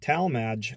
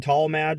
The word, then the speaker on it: Tallmadge: I said that right because I said tall mad so one day and somebody said I pronounced it wrong I don't know Talmadge tall maginot whatever she says just go a Talmadge but anyway we're here